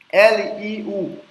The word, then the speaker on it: Liu: L-I-U. Lembra que o I com U tem como se fosse Yo no meio, né? Yo, eu ensinei aqui. Então é Liu, Liu, Liu.